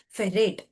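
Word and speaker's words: ferrate: It is pronounced as ferate.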